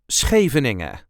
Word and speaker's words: Scheveningen: you will get it there's also a light emphasis on the first first part as you can hear